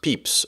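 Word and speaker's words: Pepys: Whereas the journals would be something like uh Pepe's how do you pronounce his name? Peps or Peps. Peeps. Okay. I've never known to tell you the truth.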